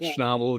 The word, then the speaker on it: Schnabel: Uh Schnab. Schnab. Okay. Sorry. Some people call it schnabble. I call it schnabble. It doesn't really matter.